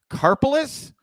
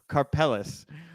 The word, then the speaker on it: Carpalis: take here okay and your last name is carpalis it's been carpalis for 40 years so yeah I've I've repeatedly called him Robert carelis because I grew up